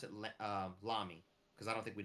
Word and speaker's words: Lamy: One of them was Lamy or Lammy, however they say it, and then the other one because again, oh, did I Lamy?